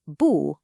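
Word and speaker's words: 不: The word for not bu follows a similar but even simpler rule. It's normally that sharp falling fourth tone, but if it comes right before another fourth tone, it changes to a rising second tone just to break up the choppiness. So, you'd say booya.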